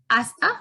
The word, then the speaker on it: hasta: to you all that the letter h is never pronounced it's always and always silent in spanish so hasta luego hasta pronto hasta